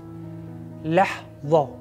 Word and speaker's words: لحظة: This is not a ضاد. This is ضو. لحظة.